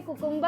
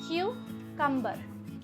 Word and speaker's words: cucumber: No, a lot of people say cucumber and it sounds very funny. It's not cucumber, it is cucumber. Cucumber. Okay, it's pronounced as cucumber.